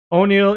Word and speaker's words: O'Neal: O'Neal is pronounced like Daniel, but with an O.